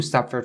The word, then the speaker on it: suffer: So the word suffer is supposed to be pronounced very, very clearly. Suffer, suffer, suffer. Don't forget to roll your tongue inside of your mouth to enunciate very clearly the R sound at the end.